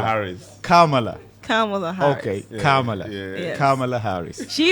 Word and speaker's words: Kamala: Okay, Kamala. yeah. Yes. Kamala Harris. She even taught people how to do it. It says you say karma and la.